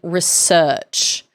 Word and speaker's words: research: When you're speaking British, you have to emphasize the second syllable in research.